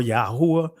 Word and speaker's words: Yahuwah: seldom say blessed be yahuwah now some of you guys may say Yahweh or yahuwah I'm just pronouncing this from an ancient Hebrew perspective yeah how it means